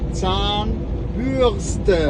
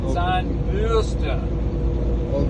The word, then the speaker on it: Zahnbürste: You have to say Zahnbürste. Oh, Bürste. Yes. Oh my Put the God. R in the wrong place. I didn't know. Like a germ, huh? Zahnbürste.